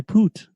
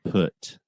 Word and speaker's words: put: No, but if you're running around saying, I poot. So the correct pronunciation is I put.